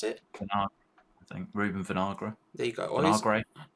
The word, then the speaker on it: Vinagre: their left wing back name how do you pronounce it i think reuben vinagra there you go vinagre there we go uh and samado on the